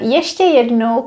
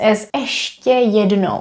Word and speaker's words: ještě: viewers pointed it out that yeso could also be pronounced asedo which is very very informal and because we use